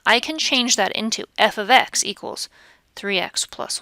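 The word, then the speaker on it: f(x): f parentheses X parentheses and the way we pronounce that is f of X so I just mentioned if an equation is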